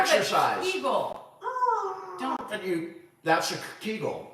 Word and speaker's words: Kegel: I mean, Kegel rhymes with beagle.